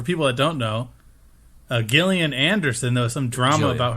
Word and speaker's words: Gillian: that don't know uh Gillian Anderson though some drama about her oh it's Gilly the one from communities Gillian but she's spelled the same way um Jillian Anderson was rumored to